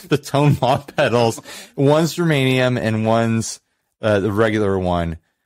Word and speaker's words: germanium: original and kept the germanium. I always want to say geranium now because someone put that poison in my head because they're like, oh, some people accidentally pronounce it geranium.